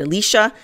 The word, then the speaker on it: Elisha: Kings 13 20-21 so Elisha died the great prophet Elisha some pronounce it Alicia and they buried him